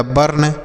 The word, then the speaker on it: burn: उसी तरीके से बी से हो गया ब, यू का उच्चारण अ हो गया, आर से आधा र, यन से न, यह हो गया बर्न, BURN, बर्न हो गया।